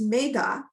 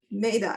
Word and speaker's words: Medha: It's Medha, Medha, and it was always a woman. And actually I went to Catholic school for, a big part of that time. And the nuns would like, Medha, and my maiden name is.